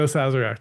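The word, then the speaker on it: Sazerac: The Zazzarak. The Zazzarak.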